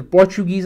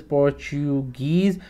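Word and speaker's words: Portuguese: पहले इंडिया के अंदर पोर्च गीज लाए थे पोर्च गीज a this is पोर्टु गीज नाउ पोर्टु गीज के स्पेलिंग जी यू ईएससी होते हैं दे इंट्रोड्यूस्ड प्रेस इन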